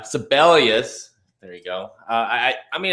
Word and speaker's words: Sibelius: Yeah, syphilis, this is it. Syphilis is up. Thanks to Alterman, I will never pronounce this horse's name correctly because that's what I think. But yeah, Sibelius.